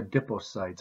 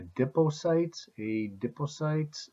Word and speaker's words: adipocytes: I've heard it pronounced both ways. I don't work in fat a lot, so those people that go to those meetings, I don't know if they say adipocytes, or adipocytes, like I do.